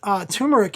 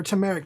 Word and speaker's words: turmeric: matcha green tea with turmeric in it or tumeric depending on where you're from and how you pronounce it but that's another tea